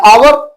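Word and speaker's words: hour: एन आवर एन आवर हमने आवर लिखा तो हावर है पर ओ से पहले ए साइलेंट है और इसको हम पढ़ेंगे आवर तो आयन यूज करेंगे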